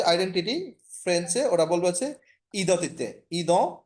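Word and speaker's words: identité: আর normally ডিটা যদি না থাকতো তাহলে তো ই দ তিতে। ই এন এর উচ্চারণ আমি একটা কোন একটা ক্লাসে বলেছিলাম মনে হচ্ছে, এটার উচ্চারণটা হচ্ছে অ, স্বরে অ।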